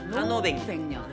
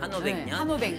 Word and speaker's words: 한오백년: 거 상 한 500년이지만 자 우리가 읽는 발음 한오백년 한오백년 한오백년 그래야 목에 힘이 안 들어가거든 한오백년